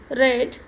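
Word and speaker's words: read: क्यू यू आई T quite मतलब छोड़ना रीड रेड रेड अब इसमें ध्यान रखना है फर्स्ट जो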